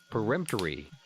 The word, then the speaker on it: peremptorily: Peremptory.